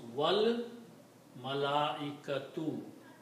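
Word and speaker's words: والملائكة: And you can put a wow before that. Wow means and. Okay, so now you pronounce wal malaikatu, and the angels.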